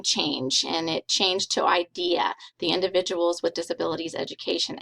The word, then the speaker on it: IDEA: the name again um it still is pronounced idea but now it's the